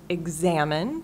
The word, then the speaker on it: examine: on the first syllable and examine stress on the second syllable and then just watching